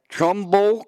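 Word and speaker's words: Trumbull: of marada Atlantic City Port St Lucy and Trumble Connecticut is that how you say it yeah uh Trumble Connecticut that's correct and then uh that's our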